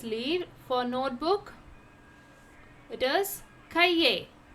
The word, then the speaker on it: cahier: For notebook it is cahier. How to pronounce?